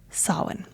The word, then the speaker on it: Samhain: And in case you are new to my world and Celtic spellings, it's not pronounced the way that it's spelled because it is a Gaelic word, and the way that Gaelic is pronounced is not intuitive to English speakers.